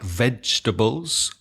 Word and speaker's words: vegetable: So if you have a word like vegetables or comfortable, you know where to place the stress on the word. So it's also very useful. And those two words, it's the first syllable, vegetable, and comfortable.